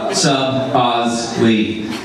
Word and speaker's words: Soboslai: complicated last name, so I spelled it out phonetically on a whiteboard. I like to make good use of bulleted lists, so Soboslai. I would draw pictures like of a sub, and then Ozzy Osbourne, and then Bruce Lee,